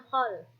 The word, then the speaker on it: haul: mereka dengan mengadakan hul ya tulisannya haul Tapi bacanya khol pernah ikut ya Ada khol Habib Abu Bakar asega